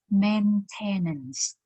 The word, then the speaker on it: maintenance: Obviously, if you look at the word and you have nothing to do with professional English pronunciation, just so you can say maintenance or maintenance, but that is wrong. This word, maintenance, or maintenance, okay? It comes from the verb to maintain. The verb here is to